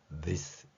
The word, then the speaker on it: this: 바로 여기에 해당하는 this 여기 발음이죠. 이 발음에서는 th가 윗니하고 아랫니 사이에 목젖을 입술을 두고 목젖이 울리는 소리라는 특성을 갖게 됩니다.